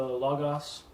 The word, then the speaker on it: logos: with God, and the logos was God, but not the logos. There's a Bible software called Logos, even though the company pronounces it Logos. They're wrong. They're wrong about their own name.